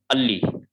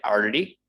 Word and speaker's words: early: Okay, and again, this one, R, we do not pronounce. Ali, Ali, Ali. We do not say early.